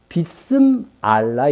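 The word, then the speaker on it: بسم الله: 먼저 이 짐승의 표가 에 비스 밀러 라고 주장하는 부유 들이 있습니다 예 이거 어떤 이미 제가 이미 설명한 바 있습니다 이비스 밀란은 경악하게 아주 상세하게 발음한 b 쓰 알라 입니다 그러니까 이스라엘 교회에서 쓰는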